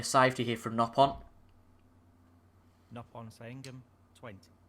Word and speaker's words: Saengkham: Nopon Sangam, 20. Sangam apparently is how the referee's pronouncing it, but I think it's Sangam.